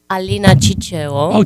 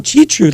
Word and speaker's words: Ciceo: Just So my name is Alina Ciceo. Chichu, like Chichesco? And Not quite. Not quite. Okay, Just the chi.